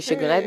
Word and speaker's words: Segun: Segun, right? Yeah, it should be Shegun. That's how the Nigerians pronounce it.